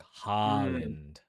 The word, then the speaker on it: Haaland: Not like Tom Holland, but like Holland like like Boston like packing like Holland.